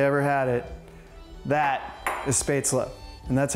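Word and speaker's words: Spätzle: favorite if they ever had it that is spesa and that's how it's pronounced it's not spatel so just be sure you're doing it right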